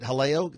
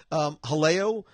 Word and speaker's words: Jaleo: Jaleo, is it Haleo? Like you don't pronounce the J's, I think. Haleo by Chef Jose Andre is one that I'm looking forward to.